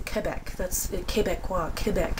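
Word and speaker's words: Québec: Quebec I don't say Quebec I say Quebec that's Quebec qua Quebec it's a it's the French way to pronounce it I'm not even pronouncing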